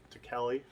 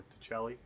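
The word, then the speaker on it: Tacelli: um this guy rauner ronald to kelly or to chelly depending on how you pronounce his name this is a handbook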